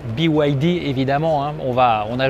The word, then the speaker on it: BYD: stand des véhicules chinois bid mais en fait on prononce biwidy évidemment on va on